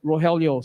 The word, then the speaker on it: Rogelio: i saw your name i pronounced your name rajeel it's rogelio so my apologies thank